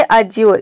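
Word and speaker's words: adjure: Next है अज्योर। इसमें भी देखिए डी के बाद जे आ रहा है और यहाँ पे डी साइलेंट है।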